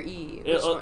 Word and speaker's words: Yi: or e or e in traditional mandarin it's e e but like it doesn't sound that sounds like i'm just making a noise i mean e right is that is that how you would say it yeah i'm just going to say d i'm going to anglicize it like a dumb american okay okay i'm gonna stick with e all right okay fine